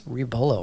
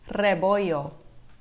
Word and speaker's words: Rebollo: Rebollo. That's how you pronounce it, right? Rebollo. Oh, I got it completely wrong. Can you say that one more time? Yes, you got to roll the R, it's rebollo.